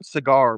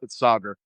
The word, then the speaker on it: Sagar: I used to say cigar by accident, but it's Sagar.